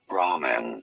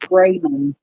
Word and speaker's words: ramen: R rman rman English however it is normally pronounced rather similarly except for the a sound as Ramen sounds like lady Bo noodles this was com